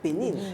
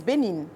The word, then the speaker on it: Bénin: Parce que le nom, c'est Bénin, c'est pas Bénin. Mais tu sais, les anglophones ont un accent tellement particulier qu'ils n'arrivent pas à dire Bénin. Donc pour eux, Bénin is Bénin. Ils prononcent ça en anglais, Bénin.